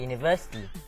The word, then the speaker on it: university: me an example sure the word university it starts with a y sound so I cannot say